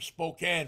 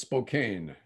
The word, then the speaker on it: Spokane: He flew in from Spokane for the game. I think that's pronounced Spokane. No, Spokane to him.